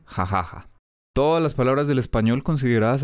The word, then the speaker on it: jajaja: debería pronunciar jajaja explicación si lo escribimos pegado inmediatamente queda convertido en una palabra si es una palabra terminada en vocal y no tiene tilde en la última sílaba quiere decir que es palabra grave o sea que lleva el acento en la penúltima sílaba por eso su pronunciación debe ser jajaja las palabras del español